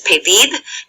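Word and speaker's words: pedid: is payer so that PID notice how the stress is on that last syllable because it ends in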